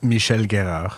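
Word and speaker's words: Michel Guérard: garrard's place right or however you're supposed to pronounce it on Francais hey John Francophile Michelle Guero there you go that's perfect yeah yeah that's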